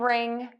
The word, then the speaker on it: wring: Homophones are words that are pronounced exactly the same way bu they have different spellings and different meanings.